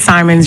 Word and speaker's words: Simons: Simons, and where I live, I have both Simmons and Simons in my community, and they are spelled the same way. And so please correct me. It's Simons, you're correct.